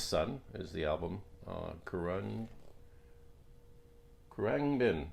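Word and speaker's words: Khruangbin: is the album uh koran bin i think is how it's pronounced i don't know someone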